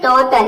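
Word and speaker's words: daughter: एक साथ आना चाहिए तो इसको हम अ प्रोनाउंस करेंगे जैसे कि यहां पे देखिए एग्जांपल है डॉटर इसमें भी देखिए डी ए के बाद क्या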